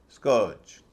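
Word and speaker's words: scourge: स्कर्ज, स्कर्ज नहीं, जैसे कर्ज बोलते हैं वैसे नहीं, स्कर्ज।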